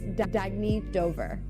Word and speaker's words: Dagny Dover: Oh, it's pronounced Dagny Dover.